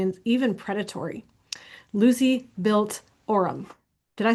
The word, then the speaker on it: Orum: She's been on the Fox News Will Kaine show and other interviews to share how UATX or University of Austin, Texas and ORUM, is that how you say it?